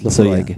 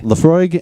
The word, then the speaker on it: Laphroaig: Laphroaig. Laphroaig, and that is actually correct.